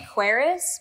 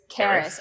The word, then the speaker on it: Karis: I was reading it Quaris, but I think it's open. Did anyone listen to the audiobook? Yeah. Yeah. What did they say? They said Karis. Karis.